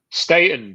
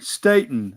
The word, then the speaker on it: Staton: this is Rob Staton is that am I pronouncing it right Stayton but uh it's fine everybody says okay Stayton I'm sorry Rob Staton and you are a